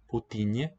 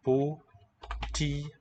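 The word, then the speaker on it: Путин: Putinye, the name of the current premier of Russia, is Putinye. So in some sense, it's a three-syllable name.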